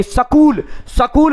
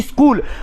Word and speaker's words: स्कूल: आप हरियाणा जाइए, उत्तर प्रदेश जाइए, मध्य प्रदेश जाइए, सकूल बोलते हैं, जबकि राजस्थान के किसी व्यक्ति से आप बात करिए स्कूल, और उसका सही उच्चारण स्कूल ही होता है ना कि सकूल होता है।